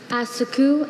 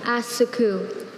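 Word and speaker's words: assacu: Asaku. Am I pronouncing it close? We'll tell you if we hear something wrong. Asaku.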